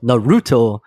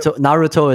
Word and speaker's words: Naruto: as I said earlier in Japanese there's no emphasis so Naruto like is not the correct pronunciation as I as I understand it well right Naruto is a very plain way to pronounce it okay cool so so